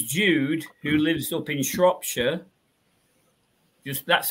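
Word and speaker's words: Shropshire: there are this Jude who lives up in shopshire just that's how you pronounce it be not being rude um then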